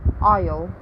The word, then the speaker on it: aisle: n in the world and silent s in aisle and island this could be useful